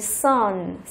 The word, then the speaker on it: son: Thì chữ O ở đây chúng ta sẽ đọc nó là âm như kiểu là âm Á ở trong tiếng Việt, và ký hiệu là như thế này. Ok, sun. Ok, mặt trời cũng đọc là như vậy. Sunshine. Mặt trời cũng đọc như vậy. Sun, hai từ này là đồng âm luôn.